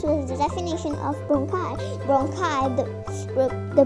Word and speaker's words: bronchi: Bronchi, the pronunciation is bronchi.